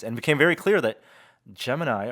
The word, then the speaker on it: Gemini: And became very clear that Gemini, or Gemini, as it's pronounced at NASA and in the film, well underrepresented in film and popular media, and something that all three of you really enjoyed.